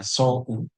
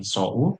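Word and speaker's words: そう: Cara baca on yominya ada sou tapi kita bacanya bukan su tapi so.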